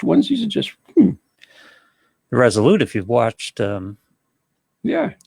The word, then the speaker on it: Resolute: yeah you know right how you say it r-e-s-o-l-u-t-e resolute resolute there you go i was a ship